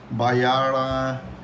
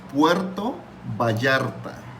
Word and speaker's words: Puerto Vallarta: it's so funny like you say Baya um Pua it's like it's remember it's Puerto Baya so you must to